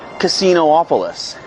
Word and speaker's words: Casinopolis: Casinopolis. It's only got one O, but you pronounce two of them. It's not Casinopolis or Casinopolis.